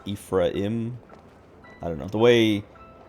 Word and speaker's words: Ephraim: when I was younger I always pronounced it a frame and then I saw uh I'd seen the name in other places and never heard it pronounced and then I watched the lighthouse and uh Robert patson's character his name is Ephraim ephra Winslow or something